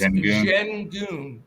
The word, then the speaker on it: Şengün: It's Şengün is how it's pronounced.